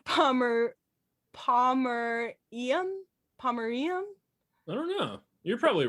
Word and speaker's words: Pomerium: I keep reading it as Pomeranian, but it's Pomerium.